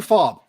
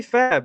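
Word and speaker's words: FAAB: Major, is it fab or fob? I say fab. It's fab. It's 2 A's.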